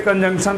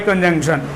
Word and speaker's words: conjunction: इसके स्पेलिंग को लेकर हम लोग कभी कभी इसको कंजक्शन कहते हैं, ठीक है। तो कंजक्शन नहीं होता है मेरे भाई, आपको बोलना है कंजंक्शन। ये एन का जो साउंड है ना, ये कभी भी आप इसको गायब नहीं करेंगे।